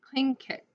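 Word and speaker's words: Tlingit: said he was a clean indian pronounced cling kit proudly with the clicking of his tongue as if saying peng kit he was built like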